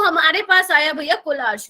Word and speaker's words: Kohlrausch: तो हमारे पास आया भैया कोलार्श लो, कोई अलग अलग प्रोनाउंसिएशन है इसकी, कोई किससे कैसे बोलता है, कोई कैसे, मैं बोलती हूँ कोलार्श लो।